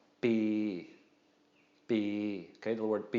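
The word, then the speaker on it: ปี: So Pò Pla with a long E is going to be a long mid-tone. Bi.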